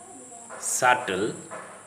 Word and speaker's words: subtle: Again, when the B sound is before a T sound, the B is silent, as in the following words: date, doubt, subtle, debtor, doubtful.